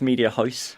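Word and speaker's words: Mediahuis: This is actually one of the benefits from being where I'm from, because it's the one time I pronounce something correctly. It's Media House.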